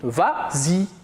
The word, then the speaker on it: vas-y: ça la vraie conjugaison mais comme il est suivi d'un pronom on ajoute le laisse pour faciliter la prononciation et on dit vas-y très bien on passe